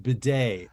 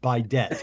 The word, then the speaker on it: bidet: so Bill knows though that's pronounced bidet not by debt oh okay like that